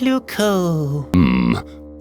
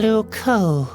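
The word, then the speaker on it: Loucaux: Luco doesn't really rhyme with Bordeaux. It's spelled completely differently. Really? Luco is spelled L-O-U-C-A-U-X. You can't write limericks like that.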